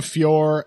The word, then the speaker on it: Fiorot: like the main event Aaron blanchfield versus Menon Fior we've discovered it's apparently pronounced and French people you have a lot to answer for this is just the latest of your crimes but man on fure Aaron blanchfield basically determining um who will fight